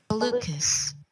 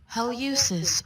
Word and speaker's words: hallucis: And you have a muscle for your big toe, and you can pronounce it. Hallucis. Haleucis or hallucis, also hallucis.